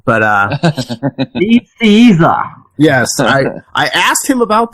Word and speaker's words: Nicieza: So, yeah, if you listen to the interview, the first thing you'll hear is him berating me for getting his name wrong. But, Nicieza.